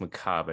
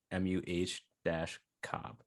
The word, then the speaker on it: macabre: I think it's pronounced macabre. I just Googled it. MUH-Cobb.